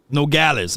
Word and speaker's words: Nogales: Nogales, okay. Nogales, I got Nogales, no glaze, Nogales, tomato.